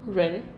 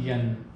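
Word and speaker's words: 人: Okay, how do you say people in Chinese? Ren. Ren. Right. It's not yan.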